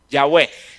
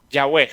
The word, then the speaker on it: Yahweh: Yahweh. ¿Sí? Yahweh. Y usualmente eso se escribe como Y-A-W-H-E-H.